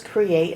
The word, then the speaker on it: create: how many syllables does create have create two syllables where do we split the syllables Cree eight now you might have